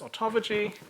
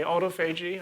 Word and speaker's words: autophagy: mechanisms of autophagy so some of you may have heard this term bring pronounced as ontology i'm going to say autophagy i think this is a reflection of where you came from where'd you learn this